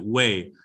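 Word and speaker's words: güey: well or anybody uh and that's how you pronounce it way so kc the way how that's cool that's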